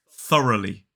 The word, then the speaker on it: thoroughly: and this word is thoroughly thoroughly three syllables the stress is on the first syllable so that first syllable